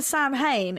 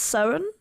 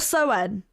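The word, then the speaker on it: Samhain: What I've been calling Sam Hain is meant to be pronounced Soan or Soan. Oh. No, I didn't know that. Yeah, or Soen.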